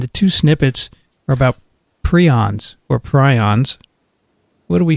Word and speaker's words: prion: word of right but a lot of textbooks actually have the pronunciation in there and they say p r e e that's how it's prion interesting okay prions anyway